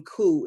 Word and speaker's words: coup: Like you know these people they didn't strike me as smart enough to know that the P in coup is silent.